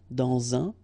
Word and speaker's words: dans un: Quand elle, dans un, okay, in that case you've got this préposition dans, okay, and then the article, dans un, all right, and here we've got this adverb,